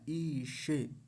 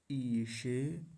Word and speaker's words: ईशे: बड़ी ई है सबसे पहले और फिर है तालव्य शकार ई से ई से नहीं ईशे फिर है अस्य ईशे